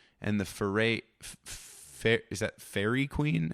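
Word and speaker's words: Faerie Queene: the Fer, is that fairy queen? How is that pronounced? I don't know what that is." Fairy Queen. Anyway, sorry. Fairy Queen. Sure. Yeah, sounds like Dairy Queen.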